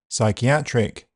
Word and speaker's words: psychiatric: The letter P is silent in several common words. Cupboard, receipt, raspberry, psychiatric, psychology, coup, pneumonia, to name a few.